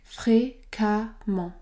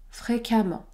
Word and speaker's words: fréquemment: se prononcent am man le E se prononce a amment ce mot se prononce donc fréquemment fréquemment fréquemment est-ce que ce